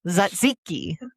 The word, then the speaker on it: Tzatziki: Tzatziki. Tzatziki. What? Tzatziki. So you don't say the T? No.